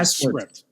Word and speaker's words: sCrypt: Is it, and I mean sCrypt, is it sCrypt or is it sCrypt? Oh, it's sCrypt. Okay. Yeah. So, all right, off to a good start. Right, so, sCrypt it is.